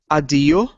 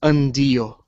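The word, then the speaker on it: αντίο: And the connection ni and tau should be pronounced nd, but some people don't pronounce the n. That's what makes adio instead of undio.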